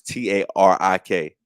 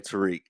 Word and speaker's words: Tarik: Tarik Skubal, even though it's Tarik. What's that spell to you, Caps? Tariq. There it is. But he a white boy and his name Tariq.